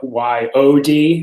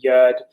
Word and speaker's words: yod: is we usually spell y o d and pronounce it like yod rather than yud um the the tav